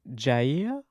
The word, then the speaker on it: Jair: They said, my name is Jair, pronounced as in yeah and ear. So Jair.